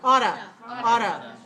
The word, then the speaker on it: ought to: okay how about two ought to talk to you auto i ought to study